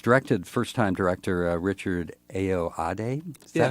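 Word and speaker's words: Ayoade: movie that was directed first time director Richard aoade is that how you say his name yeah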